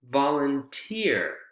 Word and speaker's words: volunteer: real quickly last group volunteer volunteer career engineer p near where's the word stress excuse me where's the syllable stress in these groups volunteer career engineer pioner it's on the last syllable isn't it yeah so for this